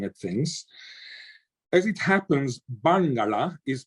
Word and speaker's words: Barngarla: As it happens, Barngarla is pronounced with a retroflex of the N and a retroflex of the L, so Barngarla.